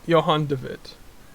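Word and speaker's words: Johan de Witt: a person name which is johan david okay your honda vit yep and then you got the tier 10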